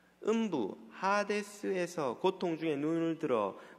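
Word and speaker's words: ᾅδης: 이렇게 말하죠 그가 음부 헬라어로 는 핫 에스 라고 발음합니다 음부 하데스 해서 고통 중에 눈을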